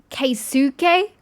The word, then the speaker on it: Keisuke: Keisuke? I know it's spelt that way, but you do know that you kind of skip the U in a lot of cases in Japanese. It's Keisuke.